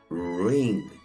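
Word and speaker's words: wring: la vamos a partir le quitamos la dobleu que es muda y nos queda una sílaba cerrada que termina en consonante O sea que usamos el sonido cerrado de la i nos queda ring ring ahora noten en esta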